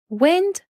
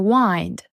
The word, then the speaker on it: wind: about a stress it could be about the pronunciation of one letter like wind or wind wind wind wind which is a noun means